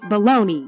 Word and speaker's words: bologna: we don't pronounce it we say baloney even though it is spelled bellogna and it's also why bologna rhymes with pony even though they are